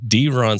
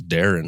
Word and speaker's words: Deron: I think Deron sounds better than what I'm sure you get a lot, which is Darren, right?